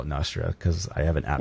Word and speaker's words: Nostr: is nostru yeah so not i call it nostra because i have an app called dominus so nostradamus anyway so but some people call it nostra um yeah so nostra was an attempt it